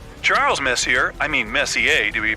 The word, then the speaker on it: Messier: Pronounced Messier, not Messier, as in is your room messier than mine? Charles Messier, I mean Messier to be precise, was a French astronomer in the 18th century.